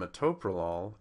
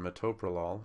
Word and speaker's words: metoprolol: they all come together the problem is with bisoprolol and ASM malol and metoprolol is that by taking this ool away we have now created unpronouncable syllables you can't say per you can't say ASM okay so because you can't say those two syllables in a meaningful way we're going to have